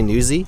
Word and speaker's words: Nuzzi: you know what's funny my last name is really newsy but everyone goes nuzzy and like it's never